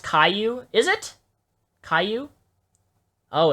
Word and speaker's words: Caillou: who don't see the difference between that is pronounced Caillou is it Caillou oh it's Caillou dude I